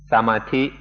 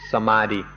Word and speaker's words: samadhi: Thai pronunciation is samadhi, and often you'll hear foreigners pronounce it samadhi.